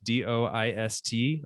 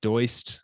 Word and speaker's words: Doist: So the company is Doist, Doist, often pronounced Doist, but it is Doist.